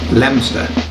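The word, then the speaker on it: Leominster: and likewise our personal favorite from the uk lemster so language lessons aside let's look at the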